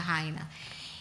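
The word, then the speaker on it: Haina: Se escribe con h pero se pronuncia Jaina.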